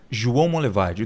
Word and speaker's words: João Monlevade: João Monlevade. Duvido se eu conseguir pronunciar corretamente. João Monlevade? Não é? Foi meio que um sotaque aí. Mas como que é? João Monlevade. Monlevade. Isso, João Monlevade.